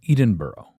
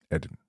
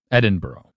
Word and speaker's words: Edinburgh: In an area close to the royal capital of Edenboro. Edinburgh. Edinburgh. I'm so bad at pronouncing stuff.